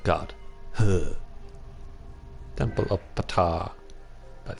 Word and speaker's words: Ptah: Temple of Ptah. But it's just pronounced Ta because the P is silent.